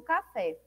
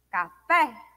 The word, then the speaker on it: café: seria a última sílaba como café café o fé mais forte né Ela é pronunciado com maior intensidade então e é a última sílaba Então se trata de